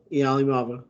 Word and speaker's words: Iamaleava: The SEC quarterbacks room looks like Nico Iamaleava, or however the fuck you say his name.